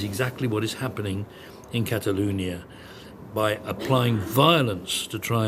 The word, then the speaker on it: Catalunya: going on in Catalunya I even pronounce that I think the way I'm supposed to we would normally say Catalonia wouldn't we but Catalunya where the Spanish government